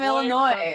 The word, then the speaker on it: Illinois: Illinois from Illinois yeah I love how Illinois is pronounced Illinois even though there's an S at the end of that word French well it's French